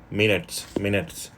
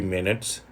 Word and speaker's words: minutes: Minutes. It should be minutes, not minutes. I think here minutes, minutes. Minutes, no, not minutes. It's not long vowel, not long I. It's a short I sound.